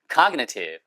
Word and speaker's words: cognitive: 얘도 형용사일 때는 cognitive. cognitive 앞 액센트 있어요.